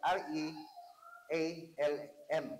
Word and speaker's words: realm: realm no realm realm ang spelling is r r e a l m no ang pagpronounce sa na is realm no realm So